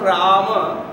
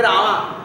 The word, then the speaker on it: Rama: If you go to South India, they don't pronounce Rama as Rama. They say Rama. Rama in South India. That is not Sanskrit.